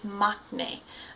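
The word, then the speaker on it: maknae: of the band perfect so again that word is machne um once again you'll see it uh when in comment or in subtitles it's usually spelled m a k n a e mne and this is going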